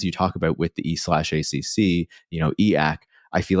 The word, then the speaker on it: e/acc: I think the best way to understand effective accelerations, or the acronym is E/ACC, which they pronounce EAC.